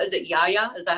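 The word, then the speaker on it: γιαγιά: In it, you mentioned that your grandmother liked to be called, is it Yaya? Is that how you pronounce it in Greek? Yeah, it would be Yaya in Greek.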